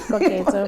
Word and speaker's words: Koketso: No, you pronounce it right, Koketso, but I usually go for Koki.